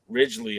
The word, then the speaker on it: Ridglea: off thursday night at the uh help me pronounce it because i don't theater ridgely okay you got it i've been saying it every wrong way uh leading up to this event so the ridgeley theater now uh what's your history with originally